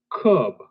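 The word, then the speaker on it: Kubb: I I'm just tasting nasty this one is pronounced cub two teams take turns tossing sticks at each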